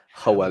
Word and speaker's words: Howell: Or Howell is like kind of the English way of saying it, but Howell is how we'd say it in Welsh.